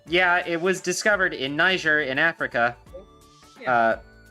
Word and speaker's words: Niger: to get to and plus I know it's pronounced Niger because it's was kind of Nigeria or n